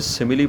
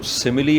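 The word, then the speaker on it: simile: यहाँ पर आप देख रहे होंगे कि एस के बाद आई है, इसलिए इस वर्ड की जो सही प्रोनाउंसिएशन है वो सिमिली है।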